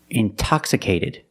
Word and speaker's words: intoxicated: or words like intensive intoxicated we have the stress after the NT we pronounce the T like a purity TT release the sound intoxicated integrity distress is